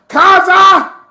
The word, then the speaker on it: Khazad-dûm: Let's jump to our friends at Khazad-dûm, right? So hold on, you gotta say it right. Khazad-dûm.